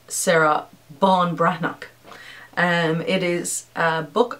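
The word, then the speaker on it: Ban Breathnach: or n e a c h and it's pronounced sarah bon brannock and it is a book about finding something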